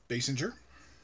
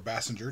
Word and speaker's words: Basinger: winner from her role in doctor who kim basinger or bassinger depending on how you want to pronounce it from the batman 89 movie um